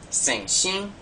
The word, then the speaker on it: 先生: Okay, notice there's a nasal sound at the end of saying xin, and xian, there's a nasal sound in there, so watch out for that.